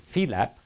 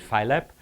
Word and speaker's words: Phi-lab: have created something called Phi-lab-- phi for the Greek letter phi, or in American Anglo-Saxon pronunciation we call it Phy-lab-- which is an open-space